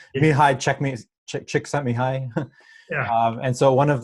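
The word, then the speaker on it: Mihaly Csikszentmihalyi: So I'll butcher the pronunciation, but it's a Hungarian psychology, it's a Hungarian name, Mihai Csikszentmihalyi.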